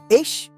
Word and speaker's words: ich: It's not a hard K, it's softer. Air forced through a narrow gap at the back of the throat. Like a whispered K. Say it quietly. Ich Ich Ich.